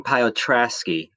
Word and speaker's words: Piotrowski: with anticipation yes hello my name is piotrowski it's uh half polish half german wow piotrski piotrasky is that i think